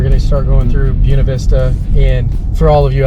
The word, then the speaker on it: Buena Vista: If you're speaking proper Spanish, it would be Buena. But here locally, you're going to be found out that you are not a local. You're not a local if you don't pronounce Buena it. Vista. Yeah, Buena Vista is how everybody's going to pronounce it.